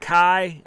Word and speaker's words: Kai: Yeah, he's saying, is that Kai? I believe. If I don't know if I'm pronouncing that right. Yes. Kai.